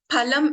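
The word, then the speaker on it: फलम्: Phalam, as we all know in Sanskrit, means fruit. But if I replace this pa with pa, which is pronounced with less effort, it becomes palam, which means meat.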